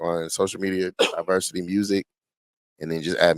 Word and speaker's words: Diversid: My name is Diversity. It's spelled D I V E R Si D.